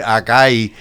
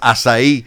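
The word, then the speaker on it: açaí: a lot about the aai I learned to pronounce the word because I always say aai and then I was corrected immediately say it is asai so about a year ago um Sylvester Stallone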